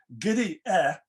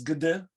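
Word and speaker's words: где: This word, which in her pronunciation may be phonetically rendered as giddy actually is gede with an as in yet, which meant where?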